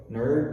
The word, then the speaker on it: nerd: It's and there's no j sound on the end or sound on the end. Brazilians are used to having this extra little vowel sound at the end of words. English words almost always end with a consonant sound, the vast majority of them.